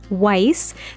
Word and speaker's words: Weiss: So our very first sim here, this is Weiss. That is how I pronounce the last name.